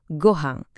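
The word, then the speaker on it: ご飯: Contoh shoshyoku yang paling umum sejagat raya ya tentu saja gohang.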